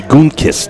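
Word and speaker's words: Gutekunst: it yeah thanks so good run g-u-t-e k-u-n-s-t goon kiss zay jennings fantastic move there fake the hand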